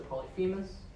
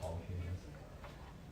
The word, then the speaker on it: Polyphemus: And if Team A gets those points, then you get 15, because it's spelled Polyphemus. It's Polyphe, not fee, so that makes a difference.